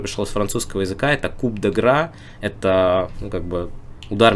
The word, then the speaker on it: coup de grâce: Но, помимо всего прочего, там особо и вопросов нет, куда ставить ударение. Это «coup de grâce», это три разных слова, которые состоят из одного слога. То есть здесь мы просто ставим ударение туда, куда... в единственное место, в которое можно.